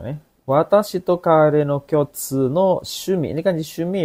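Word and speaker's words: 共通: Kyotsu ini bacanya kyo-nya panjang, kyotsu. Nih, su-nya juga panjang, kyotsu.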